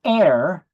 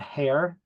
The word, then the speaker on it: heir: recap Once Again an air I guess the H is silent it's not hair that would be a